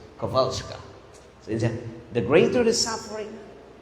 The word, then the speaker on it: Kowalska: Kowalska because it is Polish. So we pronounce it in English Kowalska, but in Poland it is Kowalska.